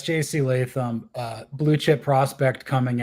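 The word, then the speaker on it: Latham: name Johnny is it leam yeah it's JC leam uh Blue Chip Prospect coming out you know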